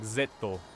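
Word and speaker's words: ZO: watched kamen rider zet zedo i know it's pronounced like zetto oh what's over here did i just like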